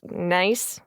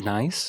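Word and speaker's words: gneiss: is like granite and nice it's it's a rock that looks like it has a million folds in it and they call it nice yeah it's called nice is that was that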